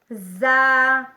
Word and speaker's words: ز: آپس میں ملیں تو زا زا زا ادا ہوتا ہے سین سین سین سین